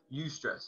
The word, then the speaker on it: eustress: It's called eustress. It's EU stress. That's what it's called. That's how it's spelled.